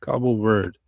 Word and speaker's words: Cabo Verde: Cabral has that status when it comes to Cape Verde, or Cabo Verde, which I should be saying it correctly. Cabo Verde.